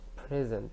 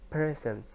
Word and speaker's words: present: meaning of the word the word present has two syllables present and how does if the stress is a place on the first syllable like present it's mean to be present when you answer yes when your teacher takes